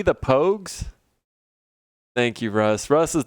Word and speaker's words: Pogues: Pogs, but with a long O sound. See? Alright, the Pogues.